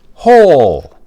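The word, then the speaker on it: whole: And remember, the only time wh sounds like an H is these two words. Who hole?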